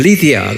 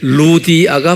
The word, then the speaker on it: 루디아: 영어로는 리디아 그래요. 근데 루디아가 맞아요. 리디아는 LY인데 Y가 라틴 말로나 이태리 말로는 U라고 발음해요.